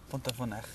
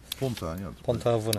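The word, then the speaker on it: Pontarfynach: How is it pronounced in Welsh? Which one? But not. Devil's Bridge. Pont-a-Fanech. Yeah. Pont-a-Fanech.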